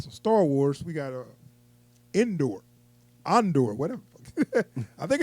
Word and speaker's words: Andor: It sounds stupid because I know when I look at it, it's like in the door. Andor. That's how you say it.